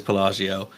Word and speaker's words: Pelagio: He don't know how to pronounce his last name. Is Pelagio. It is Pelagio.